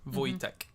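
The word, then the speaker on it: Vojtěch: Voy Voytech Marique. Voytech. March. Voytech. No, cuz it'll be like European. So the the J will be like soft. Voytech.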